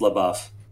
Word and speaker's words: LaBeouf: rear window starring uh shia labeouf or la buff i don't know how you say it i believe from the song it's la buff okay well there you